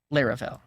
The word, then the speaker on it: Laravel: you for the resub according to a bunch of Juniors I have working with me it's lirell I have no idea how they came to that conclusion here's a video where Taylor otwell says the name let me plug in my sound it seems like we're probably G to go with larell hi this is Taylor